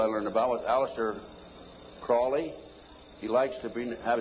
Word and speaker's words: Crowley: learned about was aliser Crawley he likes to be have his name pronounced Crowley to rhyme with holy and uh the satanists